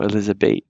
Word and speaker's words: Elisabeth: Just notice this th final is pronounced like a T in German. So Elisabeth, like that.